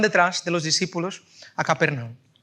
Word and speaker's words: Capernaum: Al final de ese mismo día, los discípulos cogen unos barcos y se van a Capernaum. ¿Cómo se dicen? Sí. Capernaum. Cafarnaum, es que lo he dicho en portugués.